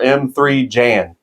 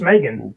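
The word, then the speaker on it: M3GAN: to and that is Megan or M3 Jan that's how they spell it I'm pretty sure it's just Megan three's not a letter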